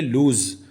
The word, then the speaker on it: lose: अच्छा, इसकी जो प्रोनाउंसिएशन है वो भी बहुत सारे लोग समझते हैं कि सेम है, ऐसा बिल्कुल भी नहीं है। जो LOSE है, यानी एज अ वर्ब जो यूज़ हो रहा है, उसकी जो प्रोनाउंसिएशन है वो होती है लूज़।